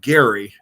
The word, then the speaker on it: Gerry: Now, the interesting thing is the governor, Elbridge, and his name is pronounced Gary, even though we say gerrymandering.